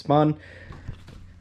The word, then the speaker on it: Spohn: new uh spoon performance i'm just going to call it spoon for now on it's spelt like this s-p-o-h-n so i'm going to call it spoon like i mean it could be pronounced spawn doesn't really matter to me uh yeah we're gonna